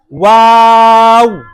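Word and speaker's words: و: Rounding of both lips. Wow.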